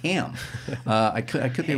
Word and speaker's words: Hamill: I believe it's Ham. It's pronounced Ham.